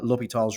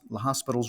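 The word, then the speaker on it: L'Hôpital: a history and very interesting story behind uh L tall's rule which is how I pronounce it some people pronounce it laas La Hospital's rule or the hospital's theorem as is written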